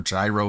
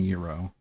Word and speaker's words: gyro: Actually, two acceptable pronunciations are gyro and yurro.